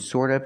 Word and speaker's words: sort of: of and sort of remember the T and sort of is pronounced with a fast D sort of sort of sort of this